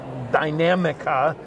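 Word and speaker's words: Dinamica: in here along with the dynamica is how we pronounce it from a pattern standpoint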